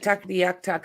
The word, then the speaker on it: Tuktoyaktuk: That's how anyone I know down here, that's how we say it.